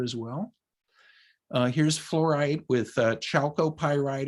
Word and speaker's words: chalcopyrite: well here's fluorite with chalcopyrite or calcopyrite you can pronounce it from the famous annaberg